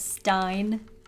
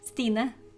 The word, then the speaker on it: Stine: Stop saying Stein though, you're gonna make everyone think that that's how you actually say my name. Which it's not. Everyone says Stein. At least every American says Stein. Okay, short version, proper way to say my name, Stine.